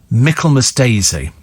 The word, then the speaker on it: Michaelmas daisy: Oh, so it's the flower, pronounced Michaelmas Daisy.